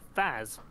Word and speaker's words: Faz: corner you can see faz and a pink card called ass yeah it's easy to remember because it rhymes with spaz all right is everyone